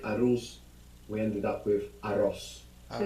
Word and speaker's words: arroz: So in Spanish we have A-R-R-O-Z.